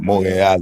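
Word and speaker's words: Montréal: Montreal, you gotta say it like that because that's how she used to say it, nigga.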